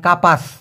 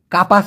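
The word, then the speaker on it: kapas: তুলা মানে ওই যে আমরা বালিশের ভিতরে যে তুলা দিয়ে বালিশটা বানাই আর কি, সেই তুলাকে মালয়েশিয়ান ভাষায় বলা হয় কাপাস। আমি আবার বলতেছি, কাপাস মানে হলো তুলা, কাপাস।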